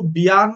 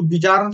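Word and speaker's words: Bjarne: ठीक है, तो देखो, सी प्लस प्लस जो थी वो बियान स्टॉस्ट्रप ने डेवलप की थी। ठीक है, उसको बिजारन स्टॉस्ट्रप भी बोलते हैं लोग, जे है जे, लेकिन मैं साइलेंटली कंसिडर करता हूँ बियान स्टॉस्ट्रप को।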